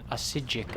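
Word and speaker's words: Psijic: Yeah, that was a Sijic monk. The P is silent, of course. Like in Pumpernickel or Paprika. Or Papastopoulos. Which is a Greek name.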